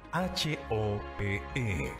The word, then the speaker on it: Hope: Se escribe H-O-P-E, se pronuncia Hope.